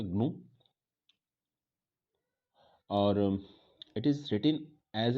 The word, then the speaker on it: GNU: और second point है, इसको हम प्रोनाउंसिएशन, जहाँ तक प्रोनाउंसिएशन की बात है तो प्रोनाउंसिएशन होगा इसका ग्नू, और इट इज़ रिटन